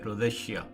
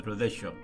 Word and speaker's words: rosacea: Some people call it as a rosacea, but usually it's better pronounced as rosacea.